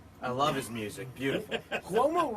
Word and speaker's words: Cuomo: Cuomo rhymes with Como.